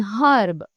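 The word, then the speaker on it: herb: कि बहुत से अमेरिकन एक्सेंट्स में जो एच होता है हर्ब में वो साइलेंट होता है। सो अमेरिकनंस यूजुअली से एन हर्ब।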